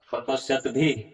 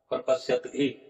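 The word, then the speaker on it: प्रपश्यद्भिः: और कुलक्षय कृतम दोषम प्रपश्यत भी जनार्दन, यहाँ पर उच्चारण क्या होगा, प्रपश्यत भी। अब ये जो रेप है इसका विसर्ग हो जाएगा, तो हो जाएगा प्रपश्यत भी, इस तरह से।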